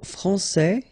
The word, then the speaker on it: français: Okay, so français here, you get this final S that you don't pronounce, so français, and then when you put this final E here, you will get française.